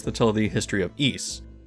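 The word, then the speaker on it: Ys: There are many stories that tell the history of East, which is the Celtic pronunciation, an island city that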